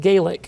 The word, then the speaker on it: Gaelic: And if you see that word, for the Scots, you pronounce it Gaic. For the Irish, you pronounce it Gaelic.